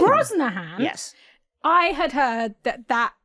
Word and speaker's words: Brosnahan: Which in my mind, I have always pronounced as Bro Shannon. I did Bro Hansen or something.